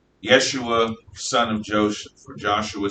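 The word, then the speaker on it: ישוע: But in Aramaic, it's pronounced Yeshua.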